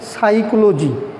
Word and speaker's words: psychology: आछे देखते पाच्छो PSYCHOLOGY प्रथम अक्षरटा पी थाकार जोन्नो अनेके विभ्रांतिते पड़े जार जोन्नो अनेके भूल करे एटाके बोली फेले जे पिसि चलो जाय किंबा पिसे चलो जाय किंतु उच्चारणटार क्षेत्रे ता हबे ना साइकोलॉजी।